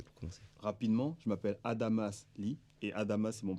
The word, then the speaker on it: Adamas: commandant Adam Ali donc moi c'est Adamas le S se prononce c'était le le commandant